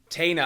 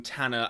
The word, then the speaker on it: Tanner: staffs now Bond taina I say bill taina in um some of these videos rather than Tanner I've talked about this in another video I don't quite know where that pronunciation came from I don't quite know why I was calling him Bill taina rather than Tanner as they say in the films but anyway very Graham